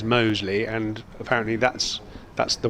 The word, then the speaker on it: Mousley: supposed to be pronounced mousely and that his nickname is danger but according to many sages including our own commentator Richard the correct pronunciation is Mosley and apparently that's that's